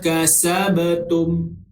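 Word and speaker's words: كسبتم: Huruf ba adalah huruf qalqalah. Sekali lagi kita jumpa, maka dia kena baca secara berdentak, iaitu secara qalqalah. Bukannya kita matikan terus sifat huruf ba tu. Kasabtum, tu salah. Okey. Cara baca yang betul, walakum ma kasabtum. Kasabtum.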